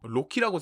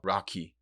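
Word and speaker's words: Rocky: 여러 이야기들을 다룬 작품인데 이게 한글 자막으로는 리을로 돼 있어서 로키라고 생각하시는 분들이 많을 텐데 l 발음이 아니고 R 발음입니다. 그래서 라키. 그 돌 영어로 락 할 때 그 락을 해서 락키더라고요.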